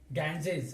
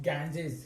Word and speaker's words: Ganges: For example, take the word Ganges. Ganges, actually it is pronounced Ganges.